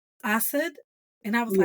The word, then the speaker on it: Assad: because he was like, most Americans say Assad, and I'm like, Assad. Between English, Spanish, and Arabic, if I see an A, it's an ah. It is automatically an ah.